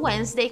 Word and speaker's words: Wednesday: E também tem palavras como Wednesday, que o D não é pronunciado.